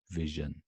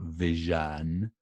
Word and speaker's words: vision: vision vision okay so the stress is on the first part vision vision vision that's where the stress is so all that's all